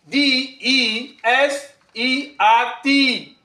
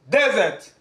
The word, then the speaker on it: desert: one by one um the first word which is spelled as a d e s e r t um is a verb and it is pronounced as desert you should exaggerate repeat after me desert um